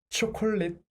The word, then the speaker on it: 초콜릿: becomes l so콜릿 초콜릿 this is How we write chocolate in Korean. And this is why we pronounce chocolate as chocolate.